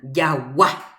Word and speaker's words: jagua: Jagua. Moõ ñande hajépa hatãve ja'épe a. Jagua. Última a.